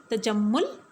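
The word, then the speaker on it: تجمّل: کریں۔ پہلا تلفظ ہے تجمل، ٹے کے اوپر زبر، جیم کے اوپر زبر، میم کے اوپر شد اور پیش ہے، لام کے اوپر جزم ہوگا۔ مصور، میم کے اوپر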